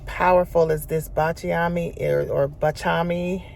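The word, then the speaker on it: Baciami: I got Bachami, One of the ladies was saying bachiami, and that's what I always hear, or bakiami or bachiami. But she said the correct pronunciation is bachami.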